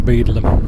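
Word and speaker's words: Beadlam: I won't make comments about it being Bedlam, I think it's pronounced Beedlam.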